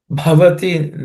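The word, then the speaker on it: भवति: Bhavati that bha is aspirated.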